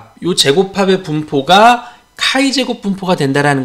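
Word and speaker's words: χ²: 이것이 자유도 n-1인 카이 제곱 분포, 요거 x가 아니라 카이 제곱이라고 읽어요. 카이 제곱 분포, 카이 스퀘어 분포를 따른다.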